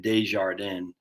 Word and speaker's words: Desjardins: That's how you say it, Desjardins.